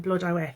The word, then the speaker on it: Blodeuwedd: Now there's some debate amongst my friends how that's pronounced, but my Cardiff advisory team is saying Blodeuwedd, so that's what I'm going with.